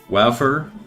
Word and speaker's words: Waffer: Waffer. Waffer art makes me explode with amazement. Damn. All right, that's how I pronounce it. Jarro jelly. There are worse jars. Yeah, just like wow fur.